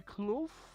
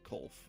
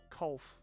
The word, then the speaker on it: Kolf: It's Colf, apparently. Kolf.